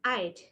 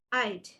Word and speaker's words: I'd: When it is I had contraction, we have to pronounce this as I'd. I'd.